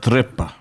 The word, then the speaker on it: trippa: The Italians pronounce it trippa.